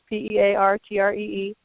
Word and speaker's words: Peartree: And my last name is a little bit easier, Peartree, like a tree that grows pears, Peartree.